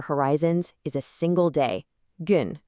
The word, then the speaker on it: gün: The absolute bedrock of these broader horizons is a single day, gün, pronounced gün.